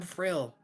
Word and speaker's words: Frill: I'm Frill. No last name though. Cool. Frill. It rhymes with thrill.